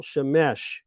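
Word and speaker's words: שמש: The sun is called Shemesh. You have to put the accent on the last syllable, Shemesh, or Chama, which means hot one.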